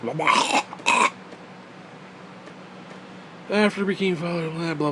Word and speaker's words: Lamech: But you gotta say it like the Jews. Lamech.